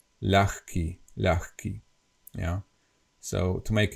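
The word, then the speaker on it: ľahký: not heavy yeah light in Slovak we say laki which means light as of low weight and it is pronounced as L key L key okay okay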